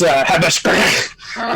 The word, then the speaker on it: Habashkraka: It's Habashkraka. That's how you say that's the Bugbear pronunciation because he is.